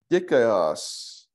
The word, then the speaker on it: dikaios: So, let's see, dikaios, and that one is going to be righteous. How do you pronounce that again? Dikalos or dikalos? No, dikaios, so.